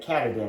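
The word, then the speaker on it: Katadyn: kind of all the rage right now and cadan is how you pronounce it and uh I've got the the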